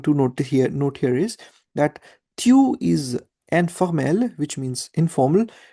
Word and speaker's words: tu: It's not tu, remember, it's tu, because the alphabet U in French is pronounced as EU, EWW, EU, right?